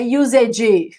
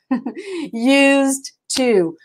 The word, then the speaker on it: used to: Used to, não é usage. Used to.